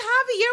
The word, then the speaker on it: Xavier: I know you pronounce it Javier. Oh, shut up. It's Javier with an X.